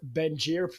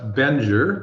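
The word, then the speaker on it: Bengier: I'm doing great and you pronounced it well Gary F bener that's right berer okay perfect so uh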